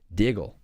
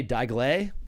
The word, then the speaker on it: Diggle: You're actually the first person to say it right first try, my last name, Diggle. What do they say? Diggle-A? Diggle-Aw? Diggle-E?